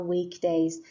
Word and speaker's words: weekday: school on these days remember that weekend and weekday have the stress on the first syllable week that's why it is underlined what day is it